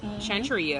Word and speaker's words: Shantria: to century you pronounce your names am i pronouncing it right Chantry oh yeah very urban vintage you've had some